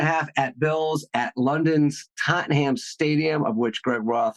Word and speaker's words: Tottenham: getting travel advice so and I believe it's pronounced Tottenham go Spurs I should have had you do